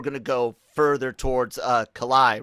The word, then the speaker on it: Calais: that we were going to go further towards Calais, right? Or did I say it right? Calais.